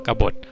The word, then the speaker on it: กบฏ: ครับ ข้อ 2 ครับ กบฏ นะ ครับ อ่าน ว่า กบฏ บ โอ บ นะ ครับ แม่ กด ส่วน ข้อ ที่ 1